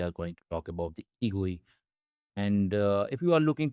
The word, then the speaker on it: egui: As you can see, Egui is pronounced as Egui and is a simple, faster, and highly portable immediate mode GUI library.